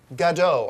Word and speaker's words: Gadot: Wonder Woman is none other than Fast and the Furious's Gal Gadot. I believe that's how you pronounce her name, Gadot.